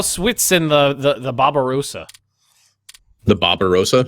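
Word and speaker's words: Barbarossa: and the the the Barbarosa the barar Roa well it's Barbarosa but I'm going to pronounce it Bob the Barbarosa I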